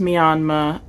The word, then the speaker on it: Myanmar: It looks like Myanmar, if you're American, but it's actually pronounced Myanmar. The R at the end makes sense in British English, since it is a former British colony. In British English, you wouldn't pronounce the R.